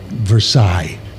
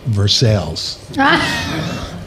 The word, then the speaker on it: Versace: So, one of my first lines was about Versace and I made the choice to pronounce it Versailles.